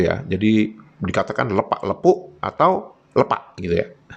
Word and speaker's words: lepak: Nah, saya menyebutkan lepak bukan lepak. Mengapa? Karena huruf E-nya diberi tanda topi itu gitu kan. Jadi kalau di dalam Kamus Besar Bahasa Indonesia, begitu e diberi tanda topi itu pengucapannya e pepet ya. Di Maledes kalau malas-malasan ini jadinya lepak bukan lepak ya.